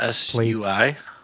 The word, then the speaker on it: Sui: Oh, look, they How do have you spell that? so it's just SUI?